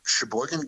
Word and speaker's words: Sheboygan: I'm in Sheboygan County, Wisconsin. Sheboygan? Is that really how you pronounce that?